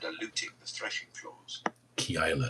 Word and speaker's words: Keilah: David saves Kayla. That's what it sounds like.